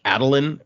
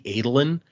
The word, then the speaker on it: Adolin: Like there's hearing random names shouldn't be a spoiler for you guys, but there's a guy named like Adeline, or that's how I pronounce it, and it's supposed to be Adolin, and so like I'm gonna fix that.